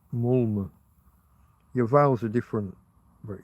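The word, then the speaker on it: Malmö: telling me about mal they don't even pronounce it as mal Malmo. Malma. Something like that. Mulma.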